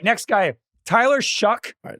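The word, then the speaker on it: Shough: Tyler Shuck, spelled S H O U G H, but it is pronounced Shuck.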